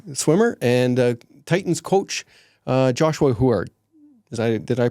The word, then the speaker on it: Huard: Today our guests are Annabelle Jackson, a competitive swimmer, and Titans coach Joshua Huard. Did I pronounce that right?